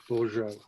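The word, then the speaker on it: Bourgeault: similar french name but her french name is spelt b-o-u-r g-e-a-u-l-t borjo b-o-u-r-g yes and then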